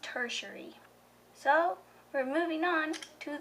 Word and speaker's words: tertiary: supposed to be pronounced tertiary to you it looks like territory territory that looks like how it was pronounced but the internet says this will be pronounced tertiary so we're moving on